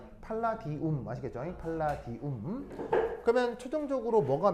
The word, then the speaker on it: 팔라디움: 팔라디움이 제일 유명합니다 아시겠죠 읽을 때 뭐라고 읽는다고라 팔라디움 아시겠죠 팔라디움 그러면 최종적으로